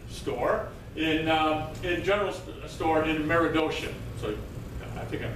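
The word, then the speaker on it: Meredosia: He takes and he will eventually open up a merchant store in general store in Meridocean. So, I think I'm pronouncing that correct. Yeah. Yes. Okay. Good. Meridocean.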